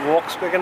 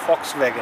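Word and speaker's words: Volkswagen: लेकिन वोक्सवैगन इसका असली नाम नहीं है। इसका असली नाम फॉक्सवैगन है। इसका कारण क्या है? V का उच्चारण कैसे करते हैं? जर्मन भाषा में V का उच्चारण F की तरह होता है।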